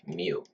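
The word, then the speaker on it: μ: which we call me pronounced as Mu mu M mu is the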